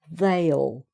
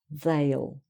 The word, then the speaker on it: they'll: So that's like two syllables really. He'll, she'll, it'll, we'll, they'll. So that these are all more or less two syllables, okay, meaning I will, you will, he will, etc.